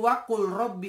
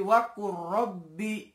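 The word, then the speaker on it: وَقُل رَّبِّ: Lamnya tidak perlu dibaca, tidak perlu wakul robbi, tapi wakur robbi masuk ke dalam huruf ro, masuk ke dalam huruf ro. Jadi wakul robbi itu kurang tepat. Yang benar langsung wakur robbi, wakur robbi.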